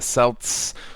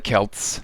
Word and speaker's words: Celts: 5 Brave New World as the selts or the Kelts whichever way uh you want to pronounce it so let's take a